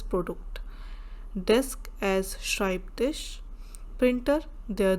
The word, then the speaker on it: Produkt: product is das Produkt, same like English but we pronounce as Produkt, desk as Schreibtisch, printer der Drucker, suit der Anzug, tie die Krawatte, shirt das Hemd, profession der Beruf.